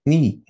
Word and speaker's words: knee: الركبة knee. K-N-E-E. الكي لا تنطق.